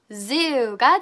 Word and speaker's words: zoo: 자, z 발음을 굉장히 어려워하는 친구들이 많아요. 그래서 한번 다시 해보겠습니다. z, z, z. 자, 이빨 윗니 아랫니를 포개고요. 그 바로 뒤에 혓바닥을 놓습니다. 그리고 바람 소리를 낼게요. s처럼 z, z, z, zoo.